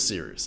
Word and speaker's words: Cyrus: them My name is Cyrus. It’s spelled like “Cyrus,” pronounced like “See Rooster,” just take out the “ter” Thank you very much for watching and have a wonderful day!